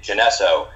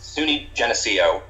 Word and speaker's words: Geneseo: in that brief introduction you you said SUNY janessa and that's fine I have heard so many people pronounce the name of that that college in so many different ways it is SUNY Geneseo and Geneseo actually comes from Seneca words in